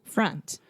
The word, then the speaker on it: front: front yes so again this is the schwa sound freh and then you have that final n sound so the tip of your tongue is touching the roof of your mouth front front yes so